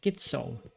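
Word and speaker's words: schizo: But no, it's actually pronounced skitso.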